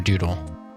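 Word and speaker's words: Dewdle: She's usually called Doo-Doo or Doodle, but I spell it D-E-W D-L-E if I type it out.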